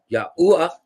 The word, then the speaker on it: Yahuwah: Because if we take a look at Jeremiah 51 verse Yahuwah. I like how he said it. Yahuwah. Didn't pronounce the H.